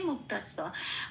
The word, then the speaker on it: মুক্তস্য: দন্তস্বয় জফলা একই রকম ভাবে লাল রং দিয়েছি জফলার উচ্চারণ বোঝানোর জন্য। এবার এটাকে দন্তস্বয়ের সাথে পড়ে দিতে হবে, দন্তস্বয় সন্তস্থা সিয়া, এটা হচ্ছে উচ্চারণ। তাহলে শব্দটা উচ্চারণ পেলাম মুক্তা সিয়া।